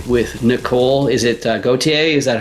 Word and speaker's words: Gautier: i'm here today with nicole is it uh gautier is that how you pronounce it it is yes that was so